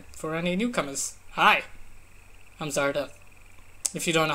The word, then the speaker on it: Zardeth: Hi, I'm Zardeth. If you don't know how to pronounce that first name, it's Zardeth.